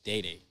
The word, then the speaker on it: Dada: First of all, everybody's saying it wrong. I just don't correct people. Was it Dada? It's Day-Day. Day-Day. It's Day-Day. There's no E. You don't need that. It's like Django. The D is silent.